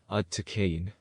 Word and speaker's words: Aaiyyan: This is the whole yantra, and it is pronounced Aaiyyan. Aaiyyan.